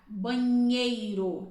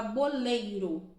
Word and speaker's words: banheiro: No ano passado, eu recebi um aluno que ele não conseguia pronunciar o NH. Banheiro, ele não conseguia falar banheiro, ele falava boleiro.